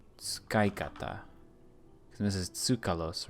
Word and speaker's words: 使い方: Shikata. That doesn't sound right. Tsukaikata. This is tsukalos, right? 使い方 Yes, tsukaikata. Use is pronounced shi.